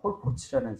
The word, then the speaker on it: 폴포츠: 가슴 예 영국 사람 폴포츠라는 사람인데 폴포트하고 폴포츠하고 단하여 발음을 잘해야 돼 폴포트는 캄보디아 킬링필드 근데 거기 죽은 그 그 캄보디아 투상인가?